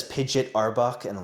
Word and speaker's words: Pidgeot: But it's pronounced Pidgeot, not Pidgeot, for those of you who know.